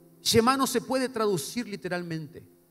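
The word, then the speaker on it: Shema: una palabra en hebreo que es Chema para los que anotan Chema así como un Porteño s h e m acento en la al final Chema no se puede traducir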